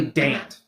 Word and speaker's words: Dante: would look like it would be said as Dante. So D A N T E, but it's actually Dant, right?